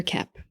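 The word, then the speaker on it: Koepp: And Kep is spelled K-O-E-P-P, like two peas in a pod.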